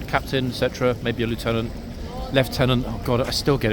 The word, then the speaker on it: lieutenant: still get it wrong left tenant apologies folks I know it's left tenant problem is watching Top Gun and other military movies far too many times in my youth so I got the American pronunciation Lieutenant uh stuck in my mind even though I do know full well it's left tenant the British pronunciation anyway yes a left